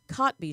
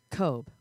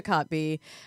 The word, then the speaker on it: Kotb: on NBC's The Today Show and the Hoda Kotb show which I realized yesterday when producer Thomas told me I'd been saying her name wrong probably a decade it's a tricky one how are you pronouncing it cope wrong yeah that's totally wrong well you know